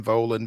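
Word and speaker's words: Volin: him on Twitter Ben volan Vin um am I pronouncing that correct it's not Vin or anything like that okay great I say it rhymes with stolen so you got it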